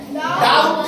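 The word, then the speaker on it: doubt: टी के पहले में जैसे देखिए लिखा गया है डी ओ यू बीटी ये क्या है डाउट नहीं लिखा जाएगा इसे डाउट डाउट माने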